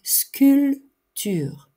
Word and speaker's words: sculpture: un musée une sculpture on ne prononce pas le P sculture dessiner je fais un